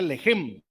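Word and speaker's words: לֶחֶם: Entonces, esta palabra pan viene del hebreo 3899, más o menos se pronuncia lejem.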